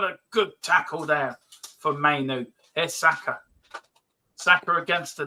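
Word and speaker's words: Mainoo: Stop calling him manure, Dermo. I told you. I called him Manu. Oh yeah, I keep getting manure. His name wrong. What actually is his name? Kobe Mainu. Mainu. Yeah. That's what I said, Mainu.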